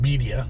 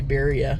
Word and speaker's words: birria: heck no all right beia beia however you want want to say it but you should say it beia cuz that's that's how you say it um it just feels wrong when you say Beria right it's like saying